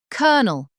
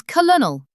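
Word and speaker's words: colonel: Flat R kernel pronounced as colonal.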